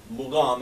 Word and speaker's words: mugham: the Caucasus when the idea of makam as the Arabs pronounce it or makum as the as the Hebrews ancient Hebrews pronounce it mugam as the aeran is pronounce it what was there